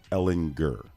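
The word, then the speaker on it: Ehlinger: On the uh pronunciation guide, it's Ellen Gurr.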